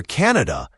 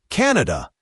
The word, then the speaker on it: Canada: And for Canada, pay attention to the stress. It's usually stressed on the first syllable. Canada, not Canada.